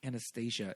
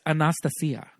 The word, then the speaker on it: Anastasia: into the actual pronunciation I think Anastasia is not how you pronounce it Anastasia Anastasia it's Anastasia oh oh oh she's